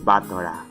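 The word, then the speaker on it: 戦人: dog but but earnest name is pronounced Bottari but the characters it is written with wait but the characters it's room with would usually be pronounced like center or something sinua wait what do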